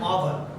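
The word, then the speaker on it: hour: Reason क्या है, हमारा एच वहां पे साइलेंट रहता है। एग्जांपल एन आवर, आवर यहाँ पे एच से स्टार्ट है।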